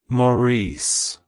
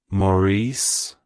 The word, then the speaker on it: Maurice: morius it's pronounced as Maurice Maurice Maurice to pronounce it correctly emphasize the first syllable Ma and the second Sy able re like hello Maurice goodbye Maurice if you